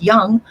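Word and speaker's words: Jung: 1920s a guy named carl young j-u-n-g which is kind of funny because it's pronounced young but um he was like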